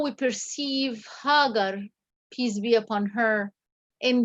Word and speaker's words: Hagar: I'm wondering if we should start with this tomorrow, because it's been the mention of Hagar, and some people pronounce her name Hajar, has been critically ignored.